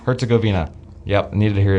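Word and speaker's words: Herzegovina: um Canada and Bosnia slash her I can't pronounce Herzgoina Herzgoina.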